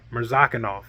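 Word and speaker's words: Murzakanov: off or I'm saying I'm murdering this guy's name mirzakanov that's how you say it azamat merzakanov that guy's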